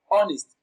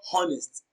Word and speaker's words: honest: our honest we have honest the sound is absent in honest it is not honest it is honest when